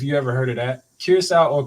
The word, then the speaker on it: Curaçao: If you ever heard of that, Curacao or Caraco is how some people would pronounce it.